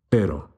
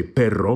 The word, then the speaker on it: pero: it lo siento again here we have a light single flipped r pero don't roll the r and say perro because that means a dog how would we say